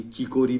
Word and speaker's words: chicory: तो मैंने फिर गूगल किया, फिर देखा कि यह इसमें ओ साइलेंट रहता है तो इसको सिक्री बोलते हैं, ठीक है, सिक्री, राइट। तो आप इसको कई लोग सिकोरी चिकोरी भी बोल देते हैं, सिकोरी भी बोल देते हैं।